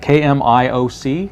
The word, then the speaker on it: Kmioc: So the name on it is Kmioc, K-M-I-O-C, and I believe Kmioc is the correct pronunciation.